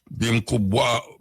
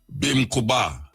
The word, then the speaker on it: Bimkubwa: Bimkubwa, Kamara, C-A-M-A-R-A, Kamara. Kamara means one who teaches from experience. One who teaches from experience. Bimkubawa.